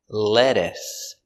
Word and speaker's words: lettuce: Pronunciation, lettuce. L, e, le, d, led, e, lede, s, lettuce, lettuce, lettuce, lettuce.